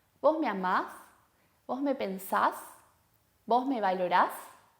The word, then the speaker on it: pensás: segunda persona del singular y acentuamos la última sílaba, la última vocal. Pensás.